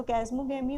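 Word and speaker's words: chasmogamy: तो कैस्मोगैमी होता है या चैस्मोगैमी, जो भी आप पढ़ें। कैस्मोगैमी क्या होता है, यहाँ पे एच साइलेंट होता है।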